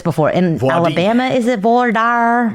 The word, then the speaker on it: voir dire: And that would be voir dire. Oh, yay! Voir dire. Or if you're in Texas, voir dire. I've asked you this before. In Alabama, is it voir dire? Voir dire.